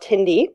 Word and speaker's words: Tindie: at a fabulous company called Tindy no it is not Tinder it is you spell it t n d iie uh and we